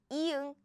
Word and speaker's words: 이응: First, if it's used at the beginning of a syllable, it's silent. It has no sound. No sound. But if it's used as a 받침, it sounds like ng.